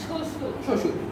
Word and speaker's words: শ্বশুর: এটা একটু ক্লিয়ার যে শুরুতে বফলা আসলে উচ্চারণ হবে না।